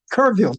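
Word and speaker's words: Kerrville: Kurville, Texas. I pronounced that right.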